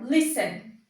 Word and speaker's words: listen: No entanto, a sílaba tônica dele é lis, não a última, né? Então, é a inicial, listen.